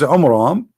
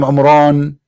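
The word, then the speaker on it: עמרם: Bible about the father of Moses which is AMRAAM not on wrong wrong wrong nation wrong name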